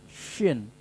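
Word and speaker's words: ش: Dibacanya adalah gigi dua-duanya shin. Gigi dua-duanya dicakupkan, terus keluarkan suara shin.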